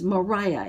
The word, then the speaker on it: Maria: my mother my great-grandmother whose name was annie mariah broadly ward she came from england and it was mariah even though it looks like it's spelled maria this is taken in my grandparents